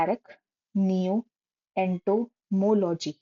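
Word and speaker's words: arachnoentomology: इसको बोलते हैं एरक नियो एंटोमोलॉजी। अरक नियो एंटोमोलॉजी, 4 parts में इसको ब्रेक कर दो, समझ में आ जाएगा।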